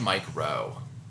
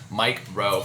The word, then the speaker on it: Mike Rowe: It's so hard to say his name because it sounds like you're just saying the word micro. So you always have to pause, but Mike Rowe from...